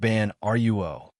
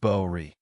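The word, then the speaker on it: prajna: It's not pronounced ban ruo. It's pronounced boi.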